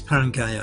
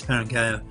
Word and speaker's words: Paraguel: got uh kilgore um i was parang sorry i've been mispronouncing it uh paraguel um the two paracyclists at